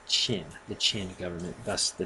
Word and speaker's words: Qin: And it's pronounced Qin, the Qin government.